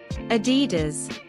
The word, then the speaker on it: Adidas: commonly mispronounced brand names Adidas Adidas James always prefers Adidas shoes when he